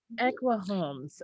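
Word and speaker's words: Ekua Holmes: And how did you pronounce the illustrators? Equa? Equa Equa. Homes. Equa Holmes.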